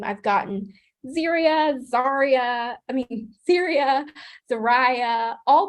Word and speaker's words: Zariah: So here in this circle right here in the center is how you pronounce my name. Zarya. That's how you say my name. Zarya.